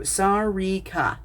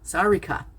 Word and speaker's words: Sarika: So his wife, it is Sar, which rhymes with car in this case, so Sar, and then Re, which rhymes with see, like I see you, so Sar, Re, and then Ka, so Sarika, Sarika.